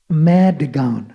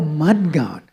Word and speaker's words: Madgaon: It says Madgaon.